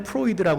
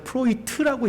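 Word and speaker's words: Freud: 정신분석학의 창시자, 예전에는 프로이드라고 그랬는데 요즘에는 그 원래 발음대로 프로이트라고 얘기를 하더라고요.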